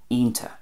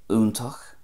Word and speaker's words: iontach: But in Ulster then, it would be ionta. So ionta. It would lose the ch at the end and kind of turns into a TA, ionta. So Munster, úntach, Connacht, iontach, and Ulster, ionta.